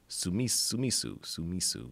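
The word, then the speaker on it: スミス: How they pronounce it is Sumisu Smith, and Sue is spelled TSU, so it's not.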